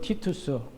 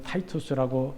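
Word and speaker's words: Titus: 로마에 있는 티투스 개선문은 로마 제국의 장군 티투스 영어로는 타이투스라고 읽습니다만 티투스가 그의 군대가 예루살렘과 성전을 파괴한 것을 기념하기 위해 주 81년에 세웠습니다.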